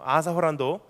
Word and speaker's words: Arthur Holland: 아사 호란도 영어 이름이에요. 그 Arthur Holland인데 일본 사람들이 발음이 안 되니까 아사 센세, 아사 호란도 센세 이렇게 해요.